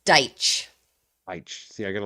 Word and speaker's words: Deitch: It's Deitch.